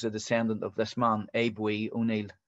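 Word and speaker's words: Aodh Buidhe: descendant of this man abe we i'm told that's the irish pronunciation abe we was the was one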